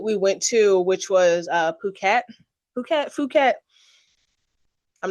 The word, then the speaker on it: Phuket: the place that we went to, which was Phuket. Phuket. I'm not going to pronounce it the other way. It's Phuket.